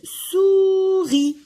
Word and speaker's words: souris: Le S, je ne le prononce pas. Donc, souris.